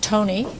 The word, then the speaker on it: Thony: Properly pronounced Tony.